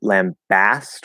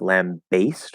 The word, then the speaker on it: lambast: is the same um you can optionally spell it with an e one is lambast with a and the other is like lamb based with a dip song and based um i've